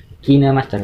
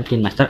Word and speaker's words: KineMaster: kinemaster hingga cah bacanya itu kinemaster bukan kinmaster atau kain Master kinemaster yang saya gunakan di sini